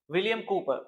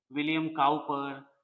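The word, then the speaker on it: William Cowper: विलियम कूपर, बहुत सारे बच्चे इसको मिस प्रोनाउंस करते हैं, उनके नेम को, विलियम काउपर या अलग अलग तरह के साउंड मैंने सुना है बच्चों से, बट इसका जो साउंड है विलियम कूपर, विलियम कूपर।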